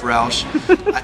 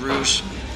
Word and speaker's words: Roush: the Rouge Roush thing my last name is pronounced Roush if you don't I guess know the English language very well then you might read it as Rouge it gets a bit